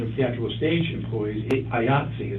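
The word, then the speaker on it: IATSE: the actual stage employees ayatsi is their name ayati is the union of control ayatsi which rhymes with Nazis so I think they're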